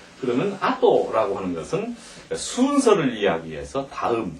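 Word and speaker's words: あと: 그러면 아토라고 하는 것은 순서를 이야기해서 다음, 뒤 이런 말입니다. 순서. 이걸 한번 더 써놔야 되겠네요. 이걸요 실제 많이 착각하는 분이 많은데 아토라고 읽으면 순서를 이야기하는 것이 됩니다.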